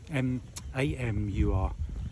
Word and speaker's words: Amur: Apparently it's an amur, A-M-U-R, amur.